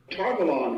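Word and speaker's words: Tar Valon: fine so let's play robert jordan saying tarvalan tarvalon which i thought was quite self-evident togalon which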